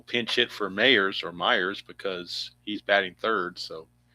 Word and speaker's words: Mayers: It is pronounced Myers. Okay. I had a feeling it was. I had a feeling it was pronounced Myers, but just spelled weird.